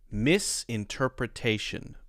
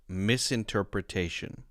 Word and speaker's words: misinterpretation: would mean to say in the bed correct pronunciation of this word would be misinterpretation misinterpretation Miss interpretation it's important when you're learning word